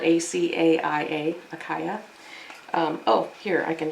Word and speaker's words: Acaia: It's spelled A-C-A-I-A, Acaia.